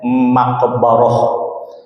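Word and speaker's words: مقبرة: sudah sudah ee di masyarakat kadang terjadi kesalahan pengucapan walaupun maksudnya kita pahami ya yang dia maksud adalah makam tapi pengucapannya salah dan ini ee hampir hampir umum terjadi harusnya maqbarah.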